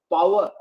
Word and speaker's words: power: Yes, power.